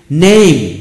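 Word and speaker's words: name: শব্দগুলি আমরা শিখব অর্ডার শেষে ই থাকলে ই উচ্চারণ সাধারণত হবে না যেমন নেম নেম এন এ এম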